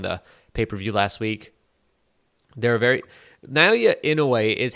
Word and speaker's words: Inoue: See, Inoue's or it's Inoue, I think is how you say his name.